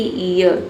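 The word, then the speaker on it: year: जब किसी वर्ड में इ ए के बाद अगर आर हो तो इ ए को हम क्या पढ़ेंगे? इ पढ़ेंगे। जैसे कि इयर। ठीक है? इयर में देखिए इ ए के बाद क्या आया है? आर आया है।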